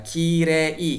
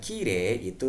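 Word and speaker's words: きれい: Dan jika Anda perhatikan baik-baik, sebenarnya untuk kata yume dan kire itu kan terbacanya juga tidak yumei dan kirei ya. Karena ada vokal e diikuti dengan huruf hiragana i, jadinya vokal panjang e. Maka terbacanya yume dan kire seperti itu.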